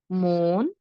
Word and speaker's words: মন: মন, বোন, জোন। আবার বলছি দেখুন, এটা কি? একাক্ষর শব্দ, শেষে আছে দন্ত ন। শেষে দন্ত ন থাকলে শুরুতে আমরা একটি ওকার দিয়ে উচ্চারণ করব।